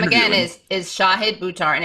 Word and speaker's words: Shahid Buttar: And his name again is Shahid Buttar, and it's pronounced like this, guys. Shahid.